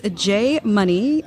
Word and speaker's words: Jay Munee: Okay, so it is Jay Munee, DIY, and that is spelled JayMunee, It sounds ridiculous, but you know.